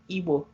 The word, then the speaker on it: Igbo: gotten pronouncing the word Igbo. I know you posted about how the pronunciation and spelling of our culture and our people is not Igbo, I-B-O. Igbo is the way it's spelled and pronounced.